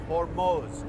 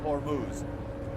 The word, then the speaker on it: Hormuz: By the way, that's the correct pronunciation. It's Hormoz, not Hormuz.